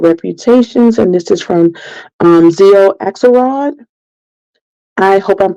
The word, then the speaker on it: Xio: And this is from Zio Axelrod. I hope I'm pronouncing her name right, but if I know people know who she is, it's spelled Xio. I'm going to say Zio Axelrod, but coming February the 6th, Girls with Bad Reputations.